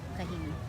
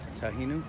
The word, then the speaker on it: Kahinu: Kahinu. You can call her Hinu also, but Kahinu is her name. Tahinu?